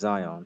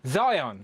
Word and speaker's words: Zion: No, it's pronounced Zion. Zion. Zion. I like it. Like Lion but with a Z.